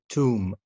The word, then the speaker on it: tomb: Okay, as you see, the first one, if you have a word and this word ends with MB, لو عندك كلمة والكلمة دي بتنتهي بMB, don't pronounce the letter B. Like bum, climb, limb, tomb, plumber.